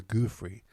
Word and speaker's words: Giuffre: versus Virginia Giuffre, or Giuffre, as it's pronounced.